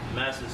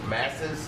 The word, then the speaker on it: Masses: Masters, New York. Masses. Masters. You gotta spell it.